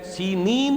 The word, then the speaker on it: سینین: صحرائے سینا، یہ ہے، سینین اس کا تلفظ ہے، یہ جمع کا صیغہ آیا ہے، اور عبرانی میں اس کو سینین کہتے ہیں۔ عربی زبان میں یہ